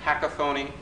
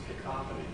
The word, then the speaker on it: cacophony: And I read words like cacophony, efficacious. Did I mispronounce it? Cacophony. Cacophony. I put the emphasis on the wrong syllable.